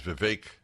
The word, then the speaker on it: Vivek: One of the candidates on the Republican side is Vivek. It's pronounced Vivek, by the way, not Vivek.